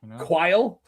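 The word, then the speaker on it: Qyle: Quail. Yeah. Quail. Like Dan.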